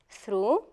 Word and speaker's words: through: However, in other words, we do not pronounce them at all. For example, in, though, through, and although. The GH is as if not there.